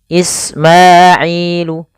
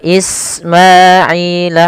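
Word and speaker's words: إسماعيل: Wa Ismaila, hati-hati jangan dibaca dengan wa is, jangan dibaca dengan sa ya, tapi sin.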